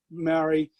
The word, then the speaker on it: Māori: think, because you know, being part Maori, you know how they pronounce it, part Māori, and Jim Phillips was the same.